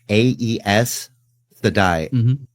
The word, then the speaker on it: Aes Sedai: It's Aes Sedai, Sedai, Eyes, Aes Sedai.